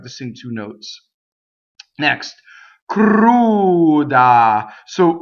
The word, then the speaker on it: cruda: The r in this word rolls because it touches a consonant.